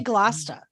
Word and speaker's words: Gloucester: Yeah, like, people are always like, why do you say Gloucester? That's not how it's spelled. Yeah, it may not be how it's spelled, but it's how it's pronounced.